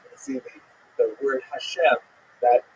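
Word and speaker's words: השם: The word Hashem, of course, is pronounced with the letter H, but there is no letter H in the Russian alphabet.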